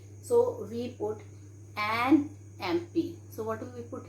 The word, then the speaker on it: MP: is starting with M, but what is the pronunciation? It is MP. Okay, so here we write an MP, because children, though it is starting with consonant letter, but the sound we are having here is vowel sound, so we put an MP.